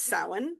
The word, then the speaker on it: Samhain: And actually, I've known for many, many moons that this was Samhain, not Samhain.